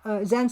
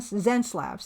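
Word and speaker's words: Xencelabs: it wcom I'm sorry pronounced Zen zenlabs thank you thank you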